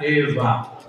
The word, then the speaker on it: Eva: H kecil sayidatuna Hawa bahasa ibraninya Eva pakai wau tapi wau di sana dibacanya semi-semi Ve antara wau dan Fa Eva bukan Fa bukan pula pa e bukan ada orang